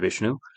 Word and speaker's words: Vishnu: Uh, yeah, I'm actually South Asian myself, so I should pronounce them as Shiva and Vishnu and Brahma.